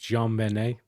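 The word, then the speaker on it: JonBenét: It's also Jantix is saying it's pronounced John Benet.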